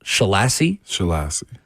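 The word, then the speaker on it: Scheelhaase: from the Rams, Nate, I believe it's pronounced Shalasy. That's at least how we're going to say it, until I figure out the right way. For everything I've seen, it's how you say it.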